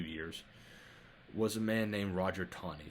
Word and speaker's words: Roger: for a few years was a man named Roger Taney, spelled Taney, but pronounced like there's a W in there, Taney, Roger Taney.